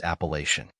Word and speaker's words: Appalachian: l a c h i n the correct pronunciation of this word is Appalachian Appalachian means relating to the Appalachian Mountains in